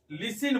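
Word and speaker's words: listen: तो देखिए यहां से स्टूडेंट क्या है, यहां देखिए लिस्टेन यानी लिस्टेन, लिस्टेन वैसे टी साइलेंस साइलेंट होता है, ठीक है। हम लोग लिसिन बोलते हैं। क्या बोलते हैं? लिसिन।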